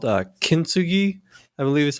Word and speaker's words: Kintsugi: It's called Kintsugi, I believe is how it's pronounced, and it's gold repair is what it is.